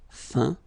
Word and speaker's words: feint: Okay, as usual, final T not pronounced. Atteint, éteint, feint, peint, teint.